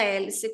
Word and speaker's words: hélice: direção governa governa hélice hélice é uma palavra feminina Tá mas como esse H é mudo eu vou usar só o l apostrof eu faço a elision que é obrigatória nesse caso lel a profe quer